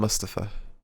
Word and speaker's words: Mustafa: Yeah, but now they've started saying it right. They call him Mustafa.